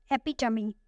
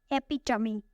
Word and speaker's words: epitome: Our next word is epitome. Epitome. It has 4 syllables and the stress is on the second syllable.